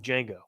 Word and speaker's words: Django: just a jacket like Django a jacket like Django jacket the D is silent that's cool I don't even